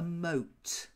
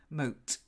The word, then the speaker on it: moat: and they're called a mote mote what no more boats like oh we need to work on the O sound mo moat Mart MEK better good